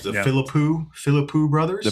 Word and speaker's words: Philippou: And I'm talking about Bring Her Back with the, how do you pronounce their names? The Philippou brothers? The Philippou brothers, yeah.